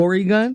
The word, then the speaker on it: Oregon: Oregon is where I am." That's like how my dad likes to pronounce it. That's what That's how my dad likes to pronounce it. Or gun. Or gun.